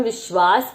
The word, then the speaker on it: विश्वास: व के ऊपर हमने छोटी ई की मात्रा लगाई है और श आधा है, वा और स बोला गया है, तो विश्वास, श्वास।